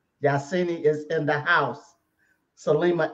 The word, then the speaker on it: Yahsinni: And Minister, I don't mind if you get my name wrong, as long as you get the first part right. Yeah. Okay? The other part is sin. The sin as in the moon sin. Yahsinni is in the house.